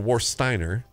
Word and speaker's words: Warsteiner: So we're in the midst of a Warsteiner or Warsteiner, but I say it like Rammstein. Yeah.